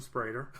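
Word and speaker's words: Spreder: Sprader. It's spelled S-P...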